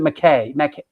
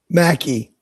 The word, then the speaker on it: Mackey: Mackey, or is it McKay? Mackie. Mackie. That's what I thought. Like Cro-Mags Mackie. Yeah, got Nice.